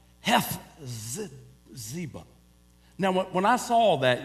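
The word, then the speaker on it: Hephzibah: you will be called Hes Ziba. Now, when I saw that yesterday, and I can't pronounce it real good, it's better for me just to say Hep Ziba.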